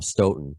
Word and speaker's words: Stoughton: matt was initially from stoughton it's still it's stone i got that down but i used to